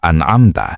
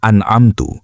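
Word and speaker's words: أَنْعَمْتَ: Huruf ta di akhir kata an'amta berharokat fathah, berbunyi a, yang merujuk kepada Allah subhanahu wa ta'ala sebagai pemberi nikmat. Namun jika dibaca an'amtu, berbunyi u, artinya berubah menjadi jalan orang-orang yang telah aku beri nikmat.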